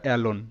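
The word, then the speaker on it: alone: এ হলো অ্যা এল ও এন ই লোন। কারণ দেখো এখানে কিন্তু ও এর পর একটি কনসোনেন্ট এবং তারপর একটি ভাওল ই আছে। তাই কিন্তু ও এর লং সাউন্ড হচ্ছে যে এল ও লো এনতে নন। লোন। আর শব্দের শেষে তো ই সাইলেন্ট থাকে। তো এটা এলোন।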